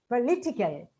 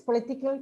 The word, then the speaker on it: political: For example, politics, but political, and politician. See, unless we know this, we'll say politics, political, politician. And intelligibility may be affected with some people.